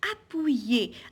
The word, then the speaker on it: appuyer: Alors, on a fruit, on a suis, appuyer, U-Y, ça donne oui.